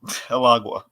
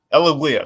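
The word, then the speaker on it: El Águila: Alagua. Eliglia, sorry, that's how you say it, Eliglia.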